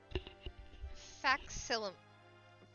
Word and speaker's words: facsimile: I need to learn how to pronounce that word. Give me a second. Facsimile. Facsimile. Facsimile.